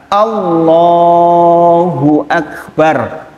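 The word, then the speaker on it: الله أكبر: Sepindah, ucapan yang betul adalah Allahu Akbar, lohnya yang panjang.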